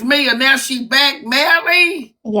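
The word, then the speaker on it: Mellie: And And would you pronounce it for the court? It's Nelly. So I was right. So it is Melly.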